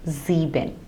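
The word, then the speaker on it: sieben: same way ZX so whenever the letter s occurs at the beginning of a German word like also in z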